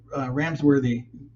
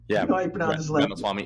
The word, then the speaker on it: Ramaswamy: I went to that Vivek Ramsworthy. I can't even pronounce his last name. Yeah, you know how you pronounce his last name? Ramaswamy.